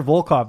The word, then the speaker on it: Volkov: Yeah, Volkov.